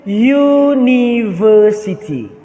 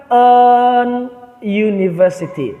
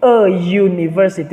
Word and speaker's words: university: Ini pengucapannya itu university, ya. Bukan an university, tapi a university. Kenapa? Karena diawali dengan bunyinya itu y, ya, karena diawali dengan yang ini, nih, ya, diawali dengan bunyi ini.